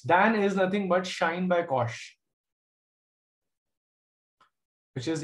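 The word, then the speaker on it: sinh: By the way, this is pronounced as shine. I mean, the English word shine, the sun shines.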